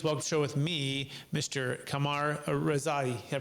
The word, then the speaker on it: Kamyar Rezaie: much more please welcome show with me Mr Kamar Rai I pronounced that correctly yes you did thank you